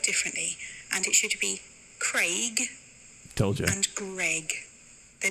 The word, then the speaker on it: Craig: Because she said, I always get confused why Americans pronounce it Craig, like C-R-E-G. And I said, it's like faint, paint, aid, gate, wait.